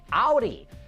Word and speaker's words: Audi: various twizzy designs hey what starts with a and rhymes with howdy that's right Audi after taunting us with